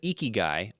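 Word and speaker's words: Ikigai: Up next is a book called Eeky Guy. I love this. I love that I looked up how to pronounce this, but Eeky Guy, I k I g a.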